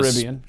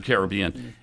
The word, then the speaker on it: Caribbean: that's a caribbean yeah the caribbean or caribbean whichever pronunciation you prefer mr casual racist over there right yeah wait at the end whatever that's right because i mispronounced caribbean yes actually both are acceptable yes all they're acceptable